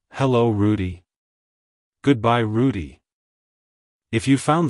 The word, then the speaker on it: Rudy: it's pronounced as Rudy Rudy Rudy to pronounce it correctly emphasize the first syllable Roo and then the second syllable d like hello Rudy goodbye Rudy if you